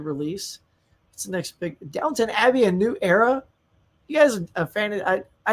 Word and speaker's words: Downton Abbey: And of course, when you look at it, everybody says Downtown Abbey, but it's Downton Abbey. So if somebody says Downtown Abbey, you can tell they've never seen the show.